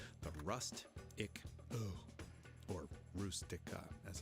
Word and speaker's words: Rustica: versions of the Fiat 127 called the or Rustica, as it's pronounced in Italian.